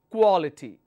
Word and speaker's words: quality: ends with Ty quality now how many syllables I have here quality so the the third one from the end we'll take the stress quality okay the next one